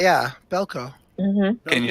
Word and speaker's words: Belko: am i referencing I was Belko or not Belk Bay yeah Bellco mm-hmm can you spell that for me B ELC oh okay yes